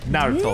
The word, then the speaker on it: Naruto: Emphasis on the na. Naruto. Naruto! Oh yeah, and it helps if you like lighten the T a little bit.